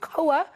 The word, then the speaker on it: Koa: good morning to you hopefully I'm pronouncing it correctly is it KOA Academy good morning to Miller that's exactly right cover Academy perfect and you believe that